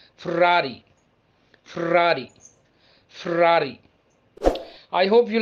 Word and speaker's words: Ferrari: expensive cars ever made f-e-r-r-a-r-i most of the people pronounce it as ferrari but its italian pronunciation is ferrari ferrari ferrari i hope